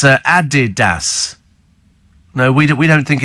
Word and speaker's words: Adidas: the the son uhuh it's pronounced uh Adidas not Adidas and it's after Adolf dasler who founded the company says Amy what's I